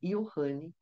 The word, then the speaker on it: Johnny: que espertamente quer agora ser chamado com a pronúncia alemã Ian que Manteve a sobrevivência